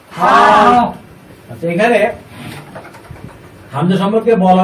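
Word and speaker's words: ح: হা।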